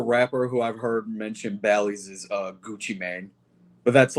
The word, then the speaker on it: Bally: Am I saying it wrong? Like, does anybody know? I thought it was Bally's. I think it is Bally's?